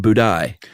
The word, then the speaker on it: Budai: 10th century Chinese monk whose name was not Buddha, but Budai.